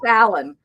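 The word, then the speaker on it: Allyn: Uh, and so yeah, isn't that her name was Allan, but her name was Allan spelled Al L YN. It was a combination of her parents' names, Alexander and Evelyn, but pronounced Allan, so he just liked it and so I was Brian.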